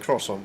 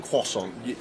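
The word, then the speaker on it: croissant: Jack am I pronouncing crossant wrong well I Quant isn't it like Fabian quason yeah yeah I don't think they pronounced the r as in Cross it's like there you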